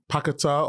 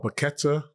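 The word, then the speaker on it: Paquetá: I think the situation with uh Pakata or Paketa, some people pronounce it, he wants to go back to Brazil, doesn't he?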